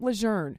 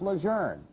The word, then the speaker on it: Lejeune: to change back to calling the base camp luzerne and that it was pronounced luzerne wral news anchor Charles Gaddy did a story